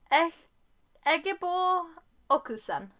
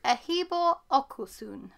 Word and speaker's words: Ehigbor Okosun: by E Egor okusan I've noticed in the author's bio it actually has a pronunciation guide for her name and I just wanted to correct it because I know I butchered the pronunciation when I was reading out earlier it's aibo okus this is stunning I